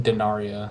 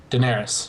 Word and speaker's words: Daenerys: daenerys yeah yes daenerys i keep thinking dinaria then i don't know why but daenerys yes i would love to see daenerys take control and rule